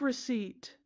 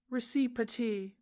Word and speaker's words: receipt: Take receipt. There's a P in there. Have a look. It's been hiding between the I and the T for hundreds of years. Receiptee.